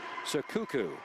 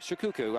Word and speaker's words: Shikuku: Also a starter, it's going to be number 10, Hillary Sakuku. That is correct, Shikuku.